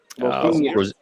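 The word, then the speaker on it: Rosenior: How you pronounce his name? Rosinier.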